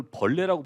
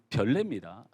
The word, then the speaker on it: 별내: 이걸 벌레라고 발음하는 이 못된 사람들이 많은데요. 이 별내입니다.